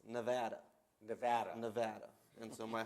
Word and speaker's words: Nevada: And just, I'm going to get dinged back home if I don't correct you, but it's Nevada.